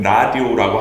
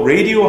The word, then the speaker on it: radio: 그리고 한글로 표기하면은 라디오라고 하지만 맞는 발음은 radio입니다. 모음이 약간 달라요. 라디오라고 하면은 스페인어 하는 것 같아요. 라디오 이렇게 얘기하잖아요. 네, 그거는 아니고 라디오 아니고 그냥 radio입니다. So radio 할 때 그 주파수 있을 거 아니에요.